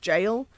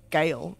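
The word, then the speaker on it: gaol: that's old witch jail I not only know that that spelling is pronounced jail because we have one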